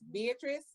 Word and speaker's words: Veatrice: Now, I just want to make sure I'm pronouncing your name correctly. It's Beatrice. Uh-huh, Beatrice. Okay. Beatrice.